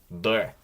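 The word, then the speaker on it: Д: And just like with the previous letter, if it's at the end of a word or syllable, it will change to a T sound.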